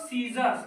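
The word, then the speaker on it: scissors: एस ओ आर एस इसको पढ़ेंगे हम लोग सीजर्स क्या पढ़ेंगे सीजर सीजर्स क्या पढ़ेंगे सी सीजर्स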